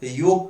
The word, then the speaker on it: योग: जैसे योग को हम लोग नागपुर में जोग बोलते हैं, संयोग को संजोग बोलते हैं, योजना को योजना बोलते हैं।